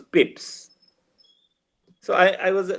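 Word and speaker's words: Pepys: English literature so we we are used to calling him pipis but when I went to England England I found that it was not papis it was Pips so I I was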